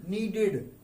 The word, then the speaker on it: kneaded: KNEADED, नीडेड। नीड की second form है, के इज साइलेंट हियर, के साइलेंट है।